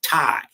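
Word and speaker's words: Tae: It the correct word is tai. T ae, right? T Ae.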